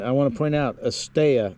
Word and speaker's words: Estella: Estella, we stayed here, whatever that is. And I want to point out, Estella, not Estella. In Spanish, when 2 L's are together, it makes a Y sound.